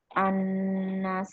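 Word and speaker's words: النَّاس: Al semacam ini harus diidghamkan. Maksudnya apa? Bunyi huruf lam yang hilang dan melebur ke dalam huruf berikutnya.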